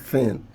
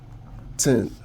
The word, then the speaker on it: thin: In phonetics, this sound is represent the sound such as when you ask a typical African to pronounce thin, they are going to pronounce it as tin.